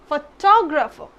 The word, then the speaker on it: photographer: Photographer, but it's not pronounced like this. This is photographer.